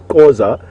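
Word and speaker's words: Xhosa: ability to do that Oza is how you're supposed to pronounce it with a lot more pronounced click I believe that venus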